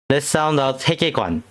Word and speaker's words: 세계관: '세계관'을 발음해볼까요. 'n'으로 끝나는데, 혀끝을 앞니 뒤에 대고 콧소리를 내듯 발음하세요.